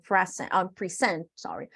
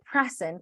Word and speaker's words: present: is called collect and present, collect and present tips. So as a noun, we say present. Como sustantivo pronunciamos present. Como verbo decimos present, okay?